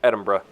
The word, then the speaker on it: Edinburgh: way its Edinburgh I figured out how to pronounce it it's Edinburgh okay now we're just doing a bit of